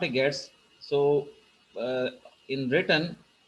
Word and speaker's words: gets: This is gets, not a gets. So uh, in written it's look like gets, but get s we will pronounce it as get s function, means get string function.